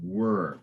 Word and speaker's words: were: soon very good and you improved your pronunciation of were uh so you said that what uh the waters which were above an earlier time you kind of said ER without the of the W so were very good okay and